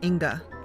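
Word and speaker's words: Inge: name is Inga I I know how it's spelled ing e because I've seen it for so many years but I think it's pronounced Inga and she is she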